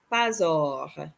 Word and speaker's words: pas or: Only because that word begins with a vowel, we're going to go against the rule. And so it becomes pas or. Instead of pas or, we're going to pronounce them as one word.